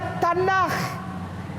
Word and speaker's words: Tanakh: Ya, dibacanya Tanakh.